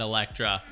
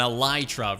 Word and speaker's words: Elytra: pretty epic not only do I have an Electra or an Ely truck rather I guess I just realized I said